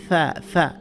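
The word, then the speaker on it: ث: সা বলা যাবে না সা জিহ্বার আগাটা সামান্য একটু বের করে দিয়ে সামনের উপরে দুই দাঁতের আগার সাথে লাগাতে হবে সা কখনোই বলা যাবে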